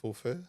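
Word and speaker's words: Popho: En ce moment, mettons, justement, la compagnie Fofo, je sais jamais comment prononcer, je pense que c'est Fofo. P-O-P-H-O. PHO, c'est feu. Ah, c'est comme la soupe qu'on dit faux, oui, nous autres, Mais c'est c'est feu. feu. OK, fait que Fofo.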